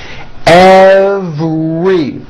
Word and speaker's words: every: Every has a very strong V sound followed by an R. Every.